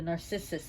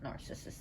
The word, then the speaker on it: narcissus: The narcissus flower, not narcissus, narcissus.